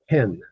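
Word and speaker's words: כן: So, just um from the top, the word for yes is pronounced ken. Ken, just like the man's name, Ken.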